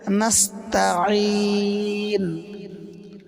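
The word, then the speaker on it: نستعين: নাস্তাঈন, এখানে আইন গলার ভিতরে হালকা চাপ দিয়ে উচ্চারিত হবে। যদি আইনের ক্ষেত্রে হামজা পড়ে, তাহলে নামাজ হবে না। যদি বলে নাস্তাঈন, এরকম বললে নামাজ হবে না। বলতে হবে নাস্তাঈন, নাস্তাঈন।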